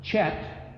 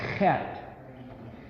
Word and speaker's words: Het: a little bit that the letter Het is the one letter with a very rasping, grating, obnoxious sound. It's like, so it's not Chet, even though it's often spelled with a CH, it's actually Het.